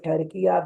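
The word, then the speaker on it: Türkiye: If we say Pakistan, if we say Turkey despite of Turkiya, that means that we have wrongly pronounced the name.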